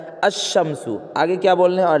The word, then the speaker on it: الشمس: اور لام آتے ہیں مگر اس وقت لام کا تلفظ نہیں ہوتا، یعنی لام استعمال میں نہیں آتا، بولنے میں نہیں آتا۔ جیسے آدمی جو پڑھتا ہے تو الشمسو نہیں پڑھتا بلکہ کیا کہتا ہے الشمسو، آگے کیا بولنے ہیں،